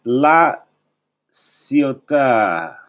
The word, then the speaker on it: La Ciotat: And being out in La Ciotat. The T is silent, my friends. Like the word bon appetit.